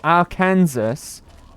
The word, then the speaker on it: Arkansas: His name's Arkansas, I believe. Or Arkansas, as it should be pronounced.